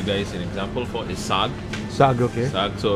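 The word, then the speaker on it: saag: can give you guys an example for is sag. Sag, okay. Sag, so how do you spell that?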